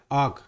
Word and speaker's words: arc: आर्क यहाँ आर silent होता है, ये आर्क होता है ना कि आर्क. करेक्ट प्रोनाउंसिएशन है आर्क.